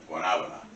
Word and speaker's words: guanábana: You know, it's actually pronounced in Spanish guanábana.